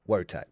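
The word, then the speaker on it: Wojtek: Is it I think it's it's spelled like wo jeek but you say it wo tech don't you?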